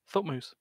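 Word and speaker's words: Thutmose: brutal moose i'm sorry t-h-u-t-m-o-s-e h-u but pronounced thought moose that that's dumb i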